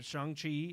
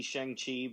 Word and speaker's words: Shang-Chi: They said Shang-Chi is going to be the one film that